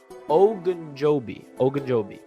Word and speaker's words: Ogunjobi: If you bring in Ogunjobi, I gotta say his name right, Ogunjobi.